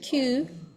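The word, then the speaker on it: 九: So yeah, and 9 too, which is, how do you pronounce 9? Q? Q or ku.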